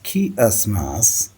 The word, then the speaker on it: chiasmus: Pronounced as chiasmus, is a rhetorical device where two or more clauses are balanced against each other by a reversal of their structures.